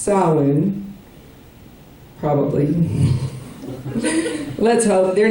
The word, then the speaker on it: Samhain: celebration of what is spelled Samhain, but is pronounced Samhain, probably.